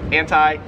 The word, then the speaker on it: anti: In similar fashion, we have anti and anti. Americans, hard I, long I, whatever you wanna say. Anti, Australians, anti.